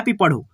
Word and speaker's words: पंप: और इस पे जब हम लगाएंगे एक अनुस्वार, ठीक है, यही अनुस्वार ऊपर लगाएंगे और यहाँ पे देखो प बैठाएंगे तो यहाँ पे पढ़ो पंप, पंप। म का उच्चारण आ रहा है, ठीक है।